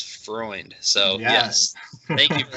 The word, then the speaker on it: Freund: They usually say Freund or Freund. Only Germans know it's Freund.